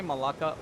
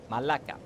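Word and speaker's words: μαλάκα: Like when I say Malaka like this is the English pronunciation of the word. Annoying. The right pronunciation is Malaka.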